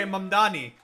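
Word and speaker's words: Mamdani: That's how you say you say Mannani. Not named Danny.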